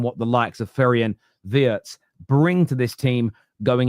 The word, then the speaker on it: Wirtz: It is Wirtz, like the V.